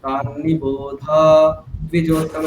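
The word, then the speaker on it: তন্নিবোধ দ্বিজোত্তম: এবার আমাদের তাহলে এখানে কল্পনা করে নিতে হবে একটা ছোট্ট দকার উচ্চারণ আছে এখানে। এখানে আমাদের একটা ছোট্ট দকার কল্পনা করে নিতে হবে, ঠিক? তাহলে উচ্চারণ কি হবে? তান্নিবোধাদ্বিজোত্তমা। তাহলে দেখুন এখানে আর ধকারটাকে বেশিক্ষণ বলা হলো না, তান্নিবোধা এরকম করে বলা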